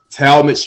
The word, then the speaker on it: Talmadge: my youtube's channel is uh as my name is spelled t-a-l-m-a-d-g-e tall mitch jr man you put that in i'm